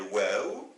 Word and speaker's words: و: Il s'appelle waw et il se prononce ou.